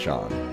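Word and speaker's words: Seam: to do about yourself the name seem oh pronounced sean and this is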